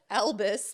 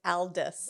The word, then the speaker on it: Aldous: It's not Albus like Dumbledore. It's Aldous. Aldous. I used to think it was Elvis.